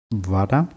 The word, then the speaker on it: вода: Вода. Вода. Die Betonung ist auf A.